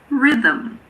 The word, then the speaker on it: rhythm: Similarly, if a word starts with RH, the H is silent, like in rhinoceros or rhythm.